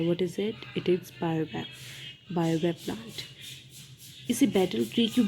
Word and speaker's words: baobab: C, focus on the pronunciation कि इसे कैसे प्रोनाउंस करना है इन डिफरेंट प्लांट्स को। इट्स बायोबैप।